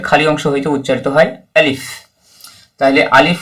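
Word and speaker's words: ألف: অংশ থেকে আলিফ আলিফ আলিফ উচ্চারণের শেষে ফ আছে ফা আছে তাই ফা উচ্চারণ যেভাবে হয় ওটাও একটু লক্ষ্য রাখবেন আলিফ আলিফ এভাবে দুই ঠোটকা মিলিয়ে দেবেন না আলিফ আলিফ আলিফ এভাবে উচ্চারণ হবে আচ্ছা ইনশাল্লাহ আগামী যেটা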